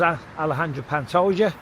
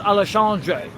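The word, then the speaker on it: Alexandre Pantoja: It's actually pronounced Allesandre. So, we'll go with Allesandre right now.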